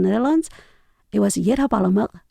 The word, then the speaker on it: Palemek: According to my mother, the last sound is like a glottal. So that's why I initially spelled with a Q at the end. Okay, so it's Yedda Palemek.